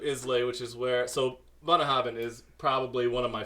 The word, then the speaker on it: Bunnahabhain: How do you say Bunnahabhain?